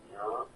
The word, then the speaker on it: Muir: And so we'll see if Muir, that's how you say his name.